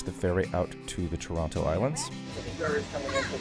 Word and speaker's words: Toronto: You don't pronounce this the the back T if you want to sound like a local but Toronto.